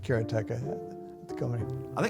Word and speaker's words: Karateka: In Japanese, uh there's no stress on any syllable. So it would be karata, something like that. I called it kerateka, but I've since found out that pretty much everybody pronounced it differently.